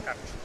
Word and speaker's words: Karch: Am I saying it right? Yes, Karch. Karch, perfect.